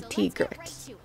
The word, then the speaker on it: Tigrex: Tigrex? Tigrex. It's literally Tiger. Ringer with an X. I can't do Tigrex.